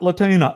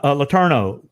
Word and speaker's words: Letourneau: all right all right so next is Latonia Letourneau I had to practice pronouncing your name Letourneau is a master at connecting the intricate dots between the u.s.